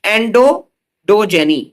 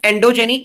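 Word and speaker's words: endodyogeny: एंडो डोजेनी नॉट एंडोजेनी एंडोडोजेनी एंडो डोजेनी एंडोडजेनी एंडोडजेनी क्या होता है?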